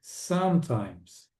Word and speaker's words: sometimes: Não diga esse e aqui. Hum. Na pronúncia não existe esse e sometimes, hardly e never.